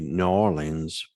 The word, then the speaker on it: New Orleans: The pronunciation of it is actually New Orleans for those that are from that area.